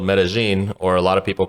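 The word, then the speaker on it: Medellín: was there I went to a city called metagen or a lot of people called it Metaline because you know there's two L's but they're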